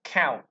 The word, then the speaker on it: cow: C thì chuyển thành K. Luôn luôn là như vậy. Âm A. Đó. Âm ao, cow, cow.